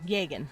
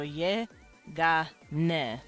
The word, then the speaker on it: Yegan: Yegan. Let's say Yegan. Yegan. That is a name, or Tulen. Tulen. Those are names, but they're written with syllables, so ye, ga, ne. But you don't hear the n.